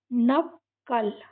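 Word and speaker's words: knuckle: नेप सेक है ना अब यहां पर भी के के साथ एन आया है के को साइलेंट रखेंगे नकल नकल और लास्ट की इ भी साइलेंट तो ये क्या है नकल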